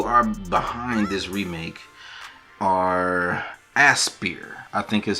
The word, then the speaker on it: Aspyr: So, the people who are behind this remake are Aspyr, I think is how you pronounce it, which is a Texas studio that